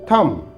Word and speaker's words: thumb: will be डम डम इट इज थम थम यहां पर भी बी साइलेंट है तो इसका उच्चारण होगा